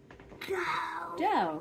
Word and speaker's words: do: It looks like do, but we're going to say do because it's an Italian word, not an English word.